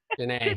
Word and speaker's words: Jana: And Jan, how we say your name wrong? Janine, right? Jana. Jana. Jana. See, there I got it finally.